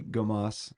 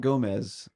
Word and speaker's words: Gomas: To now I'm going, her name's Tiffany Gomas, not Gomez. It's Gomas, like Gomas. So sometimes you'll hear people audibly say Gomez, but it's not quite spelled like that.